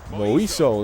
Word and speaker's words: Moiso: Moiso, that's how you pronounce it.